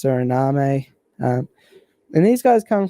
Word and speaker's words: Suriname: Guyana - well it's it's spelt like surname but I think it's Suriname a and these guys